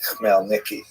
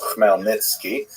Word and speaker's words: Khmelnytsky: And it's sometimes spelled in Roman characters with the Polish spelling, making it look something like Khmelnyki. It's actually pronounced Khmelnytsky, with a guttural at the beginning.